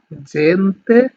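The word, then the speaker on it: gente: আমি এগুলো আরেকবার আপনাদেরকে উচ্চারণ করে দিই, সেটা হচ্ছে জেমেলি, জিরাফা, জেন্তে, জেসো, যুবত্ব, জাক্কা, giusto giornale।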